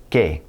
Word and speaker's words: que: It's going to be pronounced like a K in English, and it's always going to be followed by a silent U. Here's an example. Que.